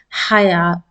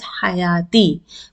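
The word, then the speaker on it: حياة: You will not pronounce it as hayati until and unless you want to continue after this word. If you are continuing, you will pronounce it as hayati. But if you want to stop on this word with this letter, you will stop as haya.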